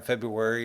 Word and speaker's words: February: shortest month or perhaps the first are in February is commonly pronounced silently while seven other months